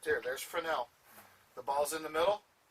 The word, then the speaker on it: Fresnel: I know it looks like Fresnel, but it's pronounced Fresnel. The other system we have, and this is the picture of an F-18.